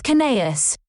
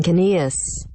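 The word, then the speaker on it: Kinneas: It's Kinaeus. If I wanted to sound like a turd, I would pronounce it like Irvine Caneus.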